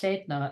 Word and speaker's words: Sedna: Sedna, pronounced Sedna, is the sea deity of the Inuit people.